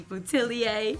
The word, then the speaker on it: Boutilier: we're hanging out with singer and songwriter Goldie butier can we give it up for Goldie in our studio please how was my pronunciation I wanted to get that right for